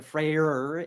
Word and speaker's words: Freyr: So I'm pronouncing the Freyr, especially to distinguish from Freya. So we got Freya and Freyr. I'm going for the hard R.